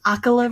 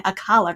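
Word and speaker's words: Akkala: where we went to akala region which I realized I've been pronouncing wrong the entire time I've always been saying aala region um and I I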